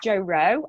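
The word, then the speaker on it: Jo Roe: do you do okay so my name is Jo row and I do spell it like a bloke my surnames are OE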